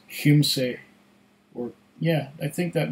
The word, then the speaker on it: Kymsee: it's something like that it's not Kinsey or chime see it's Hume say or yeah I think